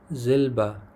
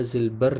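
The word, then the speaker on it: Silber: زلبه، زلبه نقره‌ایي رنګ. دلته هم تلفظ ته پام وکړئ، دا زلبر نه ویل کېږي، زلبر ویل غلط دی، دا اغ څه ده لیکو به خو تلفظ کوو به نه.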